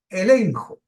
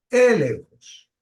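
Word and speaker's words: ἔλεγχος: En griego es elenjos, con acento en la E, elenjos, cuyo significado viene viene de una raíz que tiene que ver con convencer.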